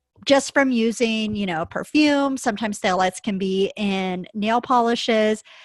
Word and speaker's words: phthalates: within that word fragrance is phthalates, and that's spelled with a P in front of it.